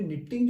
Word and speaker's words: knot: तो इसमें निटिंग जो वर्ड है एक्चुअली वो किससे बना है, नॉट से बना है। KNOT वर्ड होता है नॉट, इसमें भी के साइलेंट है, इसका मतलब होता है गांठ।